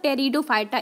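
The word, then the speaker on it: Pteridophyta: पहला है थैलोफाइटा, दूसरा है ब्रायोफाइटा और तीसरा है है ये मतलब टेरिडोफाइटा, इसमें पी साइलेंट होती है।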